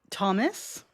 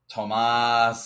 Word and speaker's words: Tomas: Thomas? Tomas? Tomas is how they said it. So Tomas.